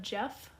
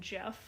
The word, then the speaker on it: Gef: a lot creepier than Gef the Talking Mongoose, because I hear the name Gef and I just think like, oh, Jeff, like that's my friend's dad's name.